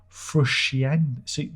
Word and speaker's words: Frusciante: Well, because there's the wine called Chianti. So you say Chianti and Frus. That's easy. Frus. F-R-U-S. Frus Chianti. Frus Chianti. Frusciante. See, then you start bending it, you see.